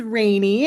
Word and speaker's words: Rainey: Um, so my name is Rainey and it's pronounced Rainey, not, but I'll take either one.